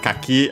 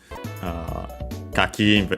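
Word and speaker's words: 柿: Kaki, as we have seen, unaccented, the one for persimmon.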